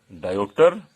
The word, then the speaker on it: dioptre: इसको अगर इस तरह से हम प्रोनाउंस करें, या तो डायोप्टर या डियोप्टर, दोनों चीज कहते हैं।